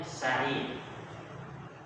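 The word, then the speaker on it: سعيد: Kalau dikasih ya setelah ain, jadinya sa'id.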